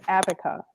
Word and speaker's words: ABC: and her name was Abaca. How do you think she spelled her name? Abaca. ABC. Abaca." Wow. I mean, I get the creativity and phonetically that's how it would be said.